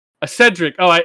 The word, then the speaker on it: Cedric: Is it Is it Codrick Diggory? Is that his name? Character's name? That's not how you pronounce it, but yes. A Cedric.